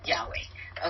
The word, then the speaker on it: Yahweh: And I don't know how that would be pronounced, or YWHW. I mean, let's see, YHWH, Yahweh. Okay. And so it did not put the sounds in there. Mm-mm. It didn't have the vowels in there.